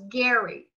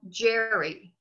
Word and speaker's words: Gerry: name is in that in his time was gary gary but they pronounce it now jerry aguardian so it's jerry mander instead of salamander